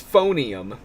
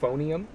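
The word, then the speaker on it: Phoneum: the other one is phonium but spelled like a phone p-h-o-n-e-u-m phonium um although that does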